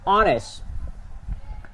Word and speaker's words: honest: The letter H is silent letter.